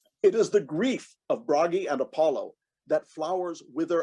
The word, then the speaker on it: Bragi: norse god bragi now you'll hear me sometimes refer to him as bharaji either is acceptable but the proper pronunciation is bragi he was the god